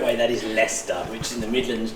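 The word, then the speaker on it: Leicester: they make dark Coke cans from Lester so pronounce the correct way that is leester which is in the Midlands just in not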